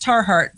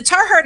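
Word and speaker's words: Tiahrt: statements in here and i think that it's pronounced tar heart so the tar heart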